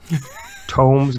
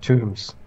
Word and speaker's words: tomes: Justin say it right Tom's not tombs tombs as tombs is what you get buried in right so you used